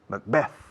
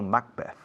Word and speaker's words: Macbeth: En inglés se acentúa la segunda, Macbeth, no Macbeth, okay? Spanish people take the name and change the accentuation.